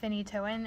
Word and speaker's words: phenytoin: It's also known as phenytoin. Is that how you say it? Mm-hmm. Yeah.